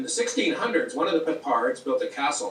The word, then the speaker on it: Peppard: It's, Peppard in French, or Pippard, has a silent D. So it's almost like Peppard.